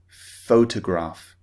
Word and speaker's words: photograph: careful of that many many foreign speakers very often produce the p sound when they see ph as in photograph but ph in english is pronounced photograph okay so this is